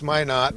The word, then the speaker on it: Minot: Plattsburgh how to pronounce Minot somebody called up and said just remember why not might not that's right and that's